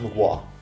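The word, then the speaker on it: Mgła: The latest Mugwa album. Yes, it's pronounced Mugwa.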